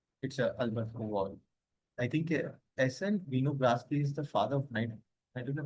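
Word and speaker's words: Winogradsky: Nedograsky. Nedograsky, who is again I'm telling you who is a father microbi soil microbiology के पापा कौन है? SN Vinogradski.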